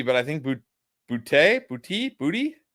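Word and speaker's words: Boutte: I know it sounds crazy, but I think Bouty Bouty booty. How do you say it was Booty? Straight up.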